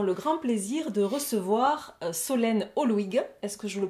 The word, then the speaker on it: Solène Holuigue: Et aujourd'hui, pour cette troisième édition, nous avons le grand plaisir de recevoir Solène Holwig. Est-ce que je le prononce correctement?